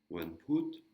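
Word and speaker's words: วันพุธ: Et le petit crochet dessous, sala ou. Et en dernière lettre, toton. Donc ça fait la syllabe put. Put. Avec une intonation qui descend. Wanput.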